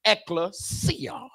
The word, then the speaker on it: ekklesia: But the word church, my brothers and sisters, is taken from the Greek word pronounced ekklesia, which means a called out group or an assembly.